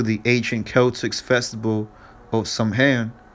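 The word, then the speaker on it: Samhain: ancient Celtics Festival of somehand pronounced sewing that's I believe that's the true pronunciation so on the Celts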